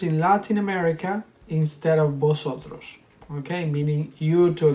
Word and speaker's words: vosotros: with vosotros you know the v in spanish we don't pronounce it like in english we pronounce it the same as the b so we don't say here vosotros you need to sound